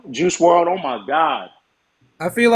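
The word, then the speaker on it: Juice WRLD: I always say his name wrong. That's important. Juice The World. second part, Juice World.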